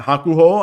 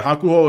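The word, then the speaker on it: Hakuhō: Uh uh Haku Hakuho I believe is how it's pronounced.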